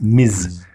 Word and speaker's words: Ms: the equivalent of mr it's pronounced miz and pretty much every